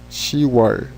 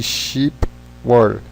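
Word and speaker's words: 시월: Em junho, You-war, falando, né, aqui, e outubro, She-war, na verdade, deveriam ser Yuk-war e Ship-war, She-war, You-war, mas são muito difíceis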